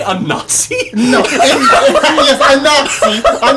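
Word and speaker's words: Inaxi: A Nazi. A Nazi. A Nazi. Maybe a Nazi. You might want to re-roll that name one time. You might want to randomize that again. Yes, rhymes with Tabaxi.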